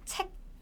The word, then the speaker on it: 책: 책. 책 in Korean is this 책. It ends with 책. Can you hear a bit small K sound at the end?